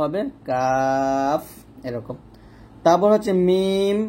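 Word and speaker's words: ميم: তারপর হচ্ছে মিম বা ওয়াও। আগে বলছি ওয়াও দুই ঠোঁট গোল করিয়া বা দুই ঠোঁটের ভিজা জায়গা হইতে, মিম দুই ঠোঁটের শুকনো জায়গা হইতে উচ্চারিত হয়।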